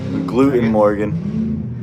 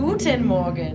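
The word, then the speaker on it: Guten Morgen: Gluten Morgan. Gluten. It's Guten Morgan. You have to say like that's that accent that they do.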